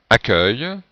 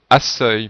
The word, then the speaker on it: accueil: Accueil, c'est la réponse B. Si on écrivait, comme dans la phrase, la proposition A, la prononciation serait accueil, puisque CEU se prononce se.